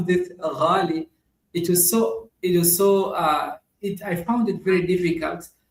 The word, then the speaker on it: ghali: Even the GH, most people don't like to pronounce it because it's like the Arabic. Like saying gali instead of gali. Gali. Ghali. Everyone just say ghali instead of ghali.